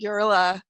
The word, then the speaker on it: Guerilla: I pronounce it Guerilla Sex Ed, but I end up when I talk fast, it just ends up sounding like gorilla, like the animal.